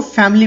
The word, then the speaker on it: family: यहाँ पे एक बात याद रखिएगा कि इस वर्ड को फैमिली पढ़ा जाता है, फैमिली कभी नहीं पढ़ा जाता। यहाँ पे आई साइलेंट होता है। The exact pronunciation is फैमिली।